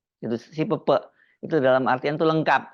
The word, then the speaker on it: SIP3P: artinya berbeda ini sebenarnya membacanya Kalau di Cirebon bukan sipp tapi Pepe itu si Pepe itu dalam artian itu